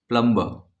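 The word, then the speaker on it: plumber: वजह से गायब है, कुछ लोग इसे प्लम्बर पढ़ सकते हैं, लेकिन जो एग्जैक्ट प्रोनाउंसिएशन है वो हम मानते हैं कि UK या ब्रिटिश एक्सेंट होता है, तो उसमें प्लम्बा बोल देंगे तो ER गायब हो जाएगा, तो प्लम्बर।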